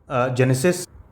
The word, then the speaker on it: gneiss: और दूसरा आप क्या जानते हो, जेनेसिस, क्या, GNEISSES, ठीक है, जिसको आप नीस कहते हो।